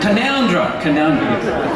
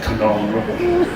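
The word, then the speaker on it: Canowindra: Canoundra. It's spelled Canawindra, but they say Canoundra.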